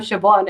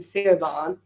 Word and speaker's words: Siobhan: stuff a sling yeah Siobhan is spelt but if someone looks up to and says hi I'm Siobhan and you just stop calling them see you're gone it's a bit rude and like look if